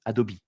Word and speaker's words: Adobe: l'IA d'Adobe qui s'appelle, Adobe. Peut-être que vous le prononcez à l'américaine, Adobe, qui s'appelle Firefly.